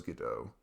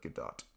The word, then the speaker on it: Godot: Like, you know, there's always Godot. Godot. I think that's how you say it. It's spelled with a T at the end, like Godot. But I think it's pronounced Godot. I have it on my PC.